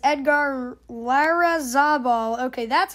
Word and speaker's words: Larrazabal: Also, we see this little title card here that says Edgar Larrazabal. Okay, that's how you pronounce it.